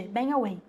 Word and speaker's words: bang away: Você não fala bang, viu? Não fico falando pronúncia, mas não fala bang, bang away, quase não sai o G, bang away.